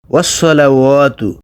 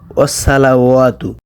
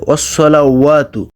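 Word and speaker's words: وَالصَّلَوَاتُ: এখানে ওয়াসসালাওয়াতু অনেকে উচ্চারণ করে ওয়াসসালাওয়াতু। সজ জবর স, সজ জবর সা হয় না, সা হইলে সিন হয়ে যাবে। আপনারা সৎটা উচ্চারণ করবেন সজ জবর স, সজের সি, সৎ পেশ সু।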